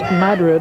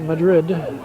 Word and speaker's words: Madrid: first half Madrid Wasington it's pronounced Madrid not Madrid SP the same as at European city but it's different pronunciation Jimmy the